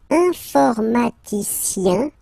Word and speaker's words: informaticien: And the last group is IEN, informaticien, yen. So that's the way to pronounce this IEN, yen. Okay? Informaticien.